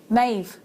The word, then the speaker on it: Maeve: And look at my dog, Maeve. And that's supposed to be spelled with a B on the end.